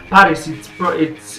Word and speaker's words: PVRIS: Yeah, PVRIS. It's pronounced as Paris but written as PVRIS.